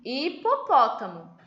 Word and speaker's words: hipopótamo: o quê que o h com uma vogal não tem som então por exemplo aqui hipopótamo começa com H mas nós ouvimos o som do I hipopótamo e a mesma coisa